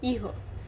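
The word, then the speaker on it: ihr: we call it as eher either and again here r is not pronounced okay it does not have a very prominent sound.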